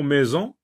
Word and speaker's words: maison: Par exemple, dans le mot maison, ça s'écrit avec S, mais ça se lit Z.